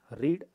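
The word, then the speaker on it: read: அடுத்தது பாருங்கள், ரீட், ரெட், ரெட். ஸோ இங்கே பார்த்திங்கன்னா இது ஸ்பெல்லிங் ஒரே மாதிரி தான் இருக்கும், ப்ரெசென்ட்டுக்கு வர மாதிரியே தான் இருக்கும், ஆனால் உச்சரிப்பு மாறுபடும்.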